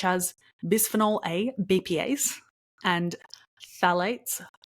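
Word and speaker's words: phthalates: bisphenol a bpas and phalates phalates I'm pretty sure the pH is silent in front that which act as endocrine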